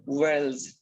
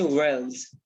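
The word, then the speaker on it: whorls: worlds w-h-o-r-l-s where else you will pronounce it as wells like you speak world but but here you need to say wells a flower has four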